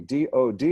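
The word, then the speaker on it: דוד: The vav is there not to be pronounced, but to be the thing, well, it's replaced by this up here, and another D, D-O-D. It's not the Department of Defense, it's Dod.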